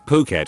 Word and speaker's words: Phuket: that I realized that I had been pronouncing Phuket as frick at the entire time as I was reading